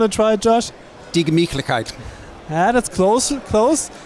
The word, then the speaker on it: Gemütlichkeit: Die Gemütlichkeit. That's close. It's die Gemütlichkeit. Can we do it all together? Die Gemütlichkeit. Die Gemütlichkeit? Yeah, that was nice. So, and the Gemütlichkeit means?